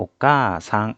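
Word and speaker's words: おかあさん: 그러니까 모음을 갖고 있는 글자, 모음을 갖고 있는 글자 카 뒤에 아가 오면 그 아는 발음하지 않고 그 아단 글자를 두 박자로 발음해 준다는 얘기예요. 그래서 오까아상이라고 하지 않고 오까상, 그래서 카를 두 박자로 했죠.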